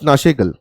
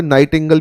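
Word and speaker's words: Nightingale: इनको कई जगह पर नाइटिंगल भी बोलते हैं और कई जगह पर नाशेगल भी बोला जाता है। उच्चारण में अलग हो सकता है, आप अंग्रेजी अनुवाद को सही मानिए, हिंदी अनुवाद कई बार इसका अलग अलग कर दिया जाता है।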